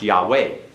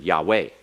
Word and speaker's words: Yahweh: It's actually on the last, Yahweh. Correct. So we're counting Yeah. on the last. That's right. It's accented on the last, it's not accented on the first.